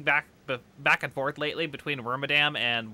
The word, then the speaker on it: Wormadam: I've been kind of bouncing back and forth lately between Wormadam and Wormadam. It's based on the word madam, so it does make sense to say Wormadam the most, probably, but it could be the other one, too.